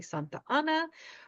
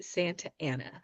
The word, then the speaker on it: Santa Ana: come from Spanish if if you are a Spanish speaker you are going to want to say Santa an reminder we're trying to speak with an American accent so we're going to pronounce it like an American would even though I know it's not correct but we are going to say Santa Ana so these are called